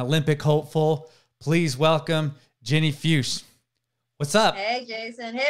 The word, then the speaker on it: Fuchs: Please welcome Ginny Fuchs.